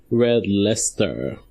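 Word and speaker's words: Red Leicester: cheese now I know people are saying it's pronounced red Lester but I don't like this pronunciation Mama Jeff would you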